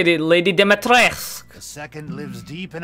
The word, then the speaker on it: Dimitrescu: Oh, that's how you say it, Lady Dimitrescu.